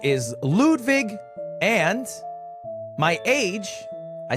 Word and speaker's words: Ludwig: My name is Lwig, but it's pronounced Ludvig. Lude Vig.